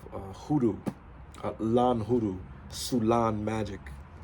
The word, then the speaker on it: Soulaan: As Sulong. Right? And so, um That's exactly how that is spelled.